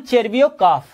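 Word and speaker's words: Tcherviakoff: Ivan चेरबियोकॉफ, इसमें T silent है, ध्यान रखिएगा। CHER चेर, VIA विया और KOFF मतलब कॉफ।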